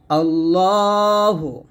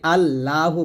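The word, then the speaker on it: اللّٰهُ: রাজীম বিসমিল্লাহির রাহমানির রাহিম আল্লাহু দেখুন আমরা এখানে প্রথম ভোল্টে করি আল্লাহু বলি এটা আল্লাহ বলবেন না যদি বাংলা আল্লাহ লেখা আছে তবে আরবি উচ্চারণ করতে হবে আল্লাহু এ হা পেশু এখানে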